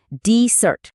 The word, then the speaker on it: desert: তো যখন ডিজার্ট একটা নাউন মানে কোন জায়গার নাম তখন জোরটা থাকবে প্রথমে।